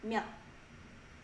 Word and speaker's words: 몇: We just looked at the sound 치, 차, 춤, 최고, 몇. Notice that this 치읒 is located in the final position of the syllable. It's pronounced as 디귿 sound. So it's going to be 몇.